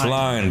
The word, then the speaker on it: SL9: It's pronounced slime, partner.